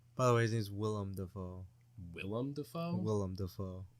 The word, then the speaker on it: Willem: By the way, his name's Willem Dafoe. Willem Dafoe? Willem Dafoe. Really? What'd you call him? William. Oh. It's Willem.